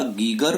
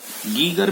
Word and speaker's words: Geiger: गीगर भी इसको पढ़ते हैं और कभी कभी हम इसको गाइगर भी पढ़ते हैं, तो वो तो डिपेंड करता है कि कौन अपना प्रोनाउंसिएशन या इंडिया में कैसा है।